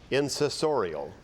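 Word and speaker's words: insessorial: Kyle, to our microphone, and your word is incessorial.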